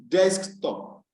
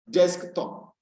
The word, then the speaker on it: desktop: so a text desktop now whereas it's stress on the first syllable desk so it is desktop desktop desktop desktop so for